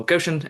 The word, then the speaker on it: Goshen: so many polls trying to get at the pronunciation of Goshen. Okay. That's what Goshen.